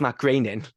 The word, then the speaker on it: Groening: When Futurama was becoming in development and Matt Groening, I have said it right because I call him Matt Groening, but it's Matt Groening.